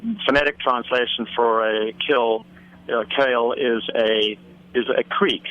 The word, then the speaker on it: kil: originally settled by the Dutch and um although it's spelled differently um the literal phonetic translation for a kill kale is a is a creek a small Creek